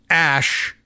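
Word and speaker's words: Æ: Okay, so I guess, so, but it is, Ash is a way of pronouncing the character, but interestingly here, not to be confused with Ash, the name.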